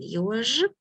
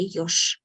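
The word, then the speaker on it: ёж: Again, еж. I pronounce it like clearly for you, but when I speak fast, I will say yosh. Sh. Instead of j, I will say sh.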